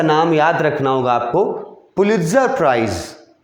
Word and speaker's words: पुलित्जर: बहुत जगह इसको ना टी जो वर्ड है उसको साइलेंट करके भी बहुत सारा लोग इसको प्रोनाउंस करता है, पुलित्जर प्राइज। टी को साइलेंट कर देगा, इसका स्पेलिंग देख लो, टी लगा हुआ है ना, उसको नहीं बोलेगा, नहीं के बराबर।